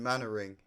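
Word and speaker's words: Mainwaring: there's a character in the show called Captain Manoring. Uh, and that's how you say it is Manoring, but it's spelled like this. So, it's spelled Captain Mainwearing, but you say it Captain Manoring.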